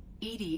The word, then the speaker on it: EDI: are you named edie edie is the phonetic pronunciation of edi that is an acronym for enhanced defense intelligence why are you named